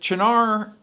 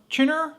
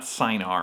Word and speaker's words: Cynar: chinar let's go so is it chanar chinner or chanar i'm not really sure it's definitely not synar i know that but chin urchinara i i go back and forth sometimes on the pronunciation i'm going to need